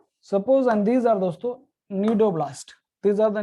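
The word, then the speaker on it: cnidoblast: These are दोस्तों, these are, C is silent here, nidoblast है.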